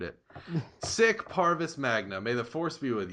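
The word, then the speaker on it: Sic Parvis Magna: Sick, sick like SIC, Sick? Sig Parvis Magna, I There you believe. go. Okay. I just We butchered got that. it. I butchered it. Sick Parvis Magna.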